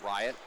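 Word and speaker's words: Riat: Charlie Riot, R-I-A-T, I believe is how he pronounces it, Riot.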